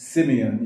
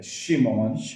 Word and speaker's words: Shimon: Of course, the Hebrew is a sh. In English, it's Simeon. You see that? Yeah. Shimon, right?